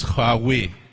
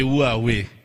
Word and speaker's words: Huawei: the gentleman said huawei a lot of people say how do you pronounce that name so i'm going to help out today right so it's hard way so we will say who are we who are we then